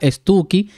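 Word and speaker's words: Stucchi: esposa Lleve ese apellido estuki se escribe estuche pero se pronuncia estuki que es un apellido italiano navegar por los aires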